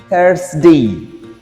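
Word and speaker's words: Thursday: জিহ্বাকে উপরের দাঁতের সাথে লাগাতে হবে। থারসডে।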